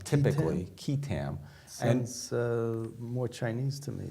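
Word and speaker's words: qui tam: um and what is a quam suit it's pronounced kitam typically kitam uh more Chinese to me Asian but actually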